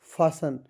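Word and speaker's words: fasten: इसमें जी साइलेंट है ये आपका फासन फासिन है। इसमें टी साइलेंट है।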